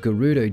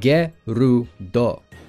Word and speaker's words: Gerudo: So if we get rid of the man part, we're left with Ge-Ru-Do, or Gerudo.